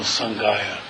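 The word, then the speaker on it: सङ्घाय: And with the next three, it's Namo Dharmaya, Namo Sanghaya, with no extra ha sound at the end.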